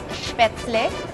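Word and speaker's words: Spätzle: Actually, it's pronounced as Spatzle.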